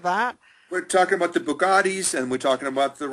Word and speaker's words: Bugatti: We're talking about the Bugattis, and we're talking about the Rolls Royces and the Bentleys. Absolutely, yes. oh, that Bugatti in front of Bichon store.